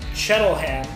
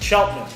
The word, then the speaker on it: Cheltenham: so when I look at it I say shuttle hand but it's Cheltenham if you the local pronunciation here in Cheltenham and then what uh count to the other